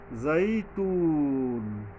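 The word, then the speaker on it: والزيتون: টানতে হয় এখানে গ্রামারটা এরকমের ওতনি ওজাইতুন জাইতুন এইযে ওয়প উপরে তিন আলিফ টানতে হবে।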